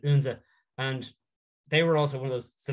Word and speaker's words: Odense: They beat a Danish side called Unze, or Odense, as some people, but I've been reliably told that the Danish pronounce it Unze.